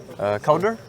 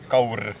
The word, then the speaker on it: Kaur: Kaur. Kauder? Kaur.